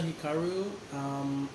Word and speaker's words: Hikaru: I am Hikaru. That's how you say it because I was saying it Hikaru, wrong.